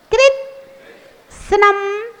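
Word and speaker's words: कृत्स्नम्: कृष्णम कृष्णम कृष्णम कृष्णम इस शब्द को भी लोग अक्सर गलत बोलते बोलते हैं कृत कृत कृत सनम सनम सनम सनम मत बोलना कृत्सनम कृष्णम कृत्सनम कृष्णम कृत्सनम कृष्णम उच्चारण करो कृत्सनम कृष्णम कृत्सनम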